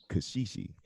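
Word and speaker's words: caxixi: winner is the percussive instrument it's called a cos she she and it's I think it's spelled see a X I X I it's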